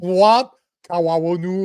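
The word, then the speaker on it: Wab Kinew: No, it's Wob Kawu or something like that.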